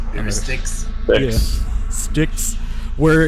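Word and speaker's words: Styx: into the river uh sat or whatever that's pronounced. Sticks.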